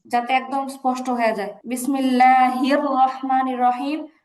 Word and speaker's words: বিসমিল্লাহির রাহমানির রাহিম: বিসমিল্লাহির রাহমানির রাহিম। হাটা স্পষ্ট ধরবে। এই জায়গাটা স্পষ্ট উচ্চারণ করতে হবে।